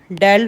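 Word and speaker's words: del: इसको हम डेल से प्रोनाउंस करते हैं.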